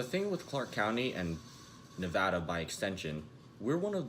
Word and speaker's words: Nevada: It's pronounced Nevada, not Nevada or whatever sinister spell that you utter to summon Beelzebub from the depths of hell.